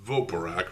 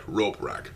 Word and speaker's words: Roporak: Not Voporak, Roporak.